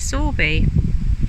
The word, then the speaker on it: Sowerby: we're at sorby bridge it's about like sowerby but the locals pronounce it sorby we've come up highway